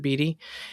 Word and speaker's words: Beatty: It's spelled like Warren Beatty, but I swear the company pronounces it Beatty.